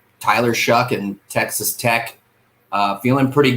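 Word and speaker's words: Tyler Shough: But Texas Tech, they won the last 3 games, and that's when Tyler Shuck, it's actually Shough, but it's pronounced Shuck.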